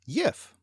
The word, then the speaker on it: gif: So the important question is, gif or jif, Norse or French? Well, as far as I'm concerned, it's an English word, so it should be pronounced yif.